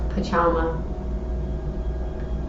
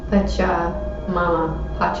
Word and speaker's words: Pachamama: The joy and pain we taste during our brief time on Earth are invitations to discover the boundless love of Pachama. Pachamama. I was saying it wrong, sorry.